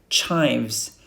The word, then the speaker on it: chives: cilantro corander corander UK chives pay attention to this I it's like h i v e you say Hive a beehive Hive Dill lemongrass